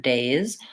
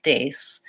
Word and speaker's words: days: The first sound is D, second sound is A, and the last sound is Z. And the reason I point this one out is that for many people, they may have a mispronunciation on this word days, where they might say it more as an S sound, like days.